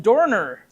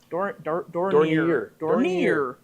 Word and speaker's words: Dornier: The Dornier. Dornier. I put the E on the wrong syllable.